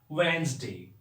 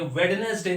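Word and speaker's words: Wednesday: ना हमारे सप्ताह में, वेंसडे। वेंसडे व से शुरू होता है, वेंसडे। इसका स्पेलिंग भी सही है, ये वेडनेसडे नहीं होता है। हम लोग बचपन से बोलते आए हैं वेडनेसडे, वेडनेसडे, वेडनेसडे।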